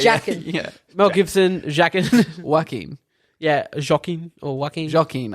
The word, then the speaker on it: Joaquin: It's Yakin, isn't it? Huh? It's Jackin. Yeah, you're keen. Yakin. How do Jackin. how do I pronounce his name correctly? Jackin. I say it wrong. Joaquin.